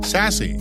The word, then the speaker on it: SASE: relationships origin and context pronounced sassy or as I like to call it sass the term is so